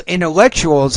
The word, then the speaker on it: intellectuals: intellectuals into in intellectuals intellectuals however so the TU is a CH as I told you before intellectuals okay now let's